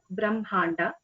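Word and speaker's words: ब्रह्माण्ड: It is pronounced as Brahmanda.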